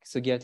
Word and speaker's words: Sugiarti: Like Sugiarti herself has a lot of stories. And for me personally, I like that the name Sugiarti rhymes with Ariati.